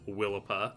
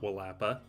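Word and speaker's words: Willapa: But then you come up to Washington and there's a bay called Willipa pronounced as Willipa not Wapa.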